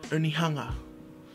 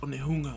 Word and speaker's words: Onehunga: I've grown up saying Manukau instead of Manuko, Papakura or Kura instead of Papakura, Onihanga. Okay, there's a U there, it's actually pronounced Onehunga. Mangere instead of Mangere, Taranaki instead of Taranaki, Mount Cook instead of Aoraki.